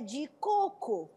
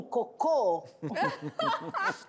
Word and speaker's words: coco: Sílaba tônica. Tem cocô? Errou só a sílaba tônica. Mas que muda todo o contexto, né?